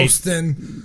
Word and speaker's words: Houston: You don't even pronounce the H. It's just a U.